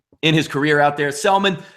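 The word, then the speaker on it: Senga: The Atlanta Braves and Tehran are going to take on the Silent G for the New York Mets. That is Selman.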